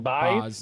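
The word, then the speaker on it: Baz: How do you pronounce his last name? Boz, yeah. Baez?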